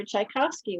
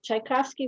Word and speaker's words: Tchaikovsky: and said and uh tchaikovsky was russian russian music you put the accent on the second beat of the measure as they speak and put the accent on the second syllable of the word oh that's fascinating i